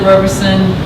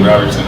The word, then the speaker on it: Roberson: Yeah, I always pronounce it Roberson Yeah. to help people spell it, but a lot of my family says Roberson. Yeah, if you say Robertson, boy, I'm putting that to you.